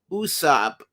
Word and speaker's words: Usopp: Usopp. Usopp's name means lie or falsehood, and he also has the same pronunciation in Japanese of Aesop, as in Aesop's Fables. And of course, we see